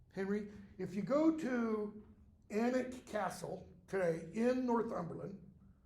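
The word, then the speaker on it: Alnwick: form for um Henry if you go to anic Castle today in North umberland it's it's spelled a l n wi i k but it's pronounced anic and you go into the I used to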